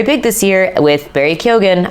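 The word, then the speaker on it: Keoghan: this year with Barry kyogen I think that's how he pronounces his last name I know it's technically supposed to be Ken or Ken but I think Barry pronounces it kyogen so Barry kogan with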